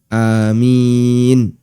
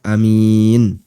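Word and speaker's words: آمين: Sehingga bisa dibaca amin. Bisa juga dibaca amin. Dua-duanya boleh. Kemudian keterangan yang kedua, keterangan Ibnu Abdil Bar.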